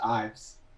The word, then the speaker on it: Ives: you say your name it's actually just eyes Ives is it boom alright